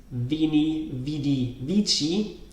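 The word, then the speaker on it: veni, vidi, vici: if you pronounce this vini vidi vici this is not incorrect that's the traditional traditional Italian pronunciation or the ecclesiastical pronunciation is also called and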